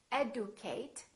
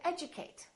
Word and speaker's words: educate: a few more words we don't say educate we say educate education schedule we don't